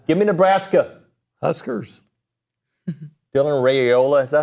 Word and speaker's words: Raiola: Dylan Raiola, is that how you say it? Yeah, Raiola, yeah.